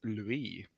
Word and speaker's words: Louis: Uh well the actual French pronunciation is Louie.